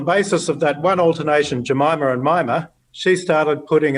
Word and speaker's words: Jemima: Her name is Jemima. The first syllable is unstressed, so she often called herself Mima.